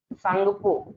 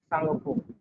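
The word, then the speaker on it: Tsangpo: में क्या बोलते हैं, सांगपो, टी साइलेंट रहेगा इसमें, ठीक है, सांगपो, सांगपो रिवर बोलते हैं चाइना में इसको, ठीक है, ठीक है।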